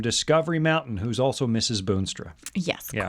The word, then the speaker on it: Boonstra: I almost always say Boonstra, and then I automatically, before they ask, B-O-O-N.